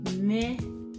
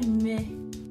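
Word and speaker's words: mwen: people in Edo language, can be very complicated to pronounce, because I've tried this with my children. When you say me, when you don't have that Benin language accent, it is quite difficult to pronounce words like me. Me is spelled M-W-E-N.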